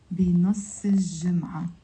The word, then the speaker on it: بنص الجمعة: With a liaison, you pronounce it بنص الجمعة.